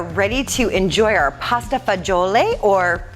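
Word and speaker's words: fagioli: so we are ready to enjoy our pasta fagiole or fajol is what a lot of people call it but fajyo lake is the product correct pronunciation in italian and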